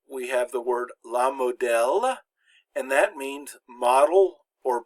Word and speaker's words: modèle: And it always indicates that the E is pronounced like the short E in English, like the E in egg. So here we have the word la modèle, and that means model or pattern.